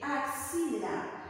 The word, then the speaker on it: axila: Siguiente, axila. ¿Cómo se representa axila? Ay, profesora, qué sencillo, ¿verdad? Axila, esa A se escribe igualita. Pero esa X, mira, está yendo entre vocales. ¿Qué se coloca? K, S.